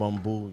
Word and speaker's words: Bumbu: we we sitting here with some how you pronounce it bumo it's bumo you know what I mean shout out to